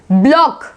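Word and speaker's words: block: अब देखो के से पहले सी जो है साइलेंट है, जैसे कि लॉक, लॉक, ब्लॉक, ब्लॉक, plug, plug, है सी साइलेंट में।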